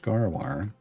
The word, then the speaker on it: Gaarawarr: on my channel twitch tv/ garar spelled like it sounds but you can click